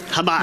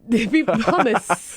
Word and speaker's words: Hamas: Now, how do you pronounce that? Hamas.